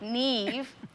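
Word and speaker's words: Niamh: mom to the neve neve it's spelled n-i-a-m-h apparently it's gaelic neve and i'm gonna keep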